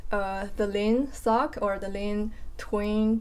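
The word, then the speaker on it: 林: my husband's name and his his name is Lin.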